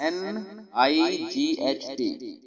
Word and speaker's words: night: आगे हमारे पास NIGHT। आज एक नया कानून पढ़ाऊंगा आपको। एन नून की आवाज देगा, आई यहाँ पर आई की आवाज देगा, यहाँ पे GH दोनों ही साइलेंट है, ठीक है जी।